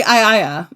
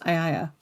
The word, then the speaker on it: Aeaea: Well, it's actually Aiaia is how it's pronounced. Aiaia.